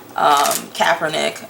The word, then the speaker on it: Kaepernick: So why don't we look first into the actual court case that Colin Kaepernick is, I always say everybody's name wrong. Kaepernick.